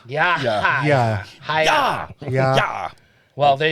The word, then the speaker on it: Yahya: Yahya. But over here, Yahya. Okay. Well, I have the H. Don't confuse him with Yo-Yo Ma. Yo-Yo Ma. Because the H makes the ya. Yahya.